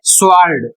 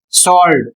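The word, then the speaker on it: sword: इसका उच्चारण यदि आप करते हैं स्वर्ड तो गलत है। आपको सही उच्चारण करना है। स्वलड जिसका अर्थ यहां देख सकते हैं।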